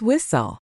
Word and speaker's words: whistle: Same goes for whistle. It's whistle.